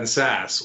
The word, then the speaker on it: Sasse: Well, there's now more rhymes with Ben Sasse, which is kiss ass.